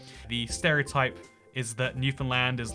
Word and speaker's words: Newfoundland: it is also this is Newfoundland but it's pronounced Newfoundland and I I I don't get to question